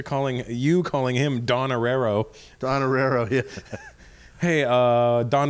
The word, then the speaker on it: Irrera: Irrera.